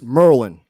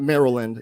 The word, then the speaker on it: Maryland: so we had maryland india miami florida it's merlin this is it's merlin merlin that's just for all the people not maryland it's merlin so this pronunciation is really really